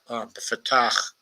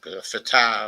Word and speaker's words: Fatah: influence of Yasser Arafat's Fatah uh, uh, organization. It's usually called Fatah, of course, but I think I know the proper pronunciation is Fatah.